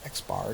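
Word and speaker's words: x̄: formula that you'll see on the exam and X bar is equally the summation of x divided by N and we literally will pronounce this guy right here as X bar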